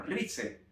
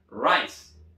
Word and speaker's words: rice: Arroz en inglés no se pronuncia como rice, se pronuncia rice.